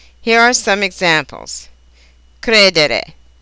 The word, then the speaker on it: credere: Many, but not all, of these verbs are accented on the syllable that precedes the next to the last. Here are some examples: credere, vendere, rispondere, ricevere.